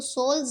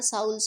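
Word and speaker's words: souls: इस वर्ड को अभी भी सोल पढ़ाया जा रहा होता है, जबकि ये वर्ड साउल है।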